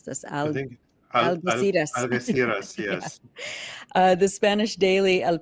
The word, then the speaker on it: Algeciras: I can't pronounce this. Algeciras, yes.